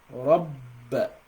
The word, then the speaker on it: رَبَّ: So for you to pronounce the letter ba with shadda, you've got to assume you're pronouncing 2 bas. The first one is gonna have a half second sukun, and the second one is gonna be having a fatha. Right? So rabb. So you assume you're pronouncing one silent ba and pronouncing another one with haraka.